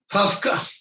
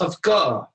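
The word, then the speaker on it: הפקעה: Hafka. There it is. See, it's pronounced Hafka.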